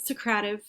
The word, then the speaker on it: Socrative: to this point socrative some people like to pronounce it secretive i actually like to pronounce it socrative but people are always